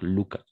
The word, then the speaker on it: Lucas: va dire Lucas d'accord on ne prononce le S à la fin c'est à dire Lucas pour le reste très